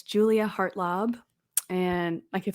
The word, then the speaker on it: Hartlaub: and it's just my name so it's Julia heart lob and I can't spell it I guess because it's a long name